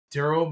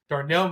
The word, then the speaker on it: Darnell: tonight actually not too long ago and it's darl money there I think I'm saying his name right Mooney he Darnell I'm sorry I said I knew said his name wrong Darnell money there uh he had you know he